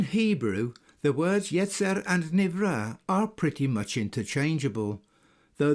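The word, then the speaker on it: נברא: Believe it or not, Navarre is a Hebrew word nowadays pronounced Nivra and means created or formed.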